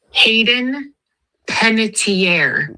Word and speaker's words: Hayden Panettiere: Thanks, Hayden Penitentiier.